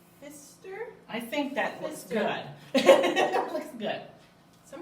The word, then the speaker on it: Pfister: I think that looks Pfister. good. That looks good. Some of these It's a last names. Pfister. Pfister. Kind of rhymes with fish, so I think Fish, so.